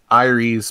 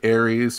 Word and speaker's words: Aeres: it's doing pretty good and that is pronounced iries but you can pronounce it ares or even heiress if you want to um i'll stop i